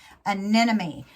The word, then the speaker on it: anemone: I've had to look up the pronunciation on this because for some reason it just does not sink in. Anemone.